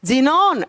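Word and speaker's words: xenon: और से आर्गन करीना का krypton X रे जीनोन एक्स से ऐसे एक्स से एक्स एक्स से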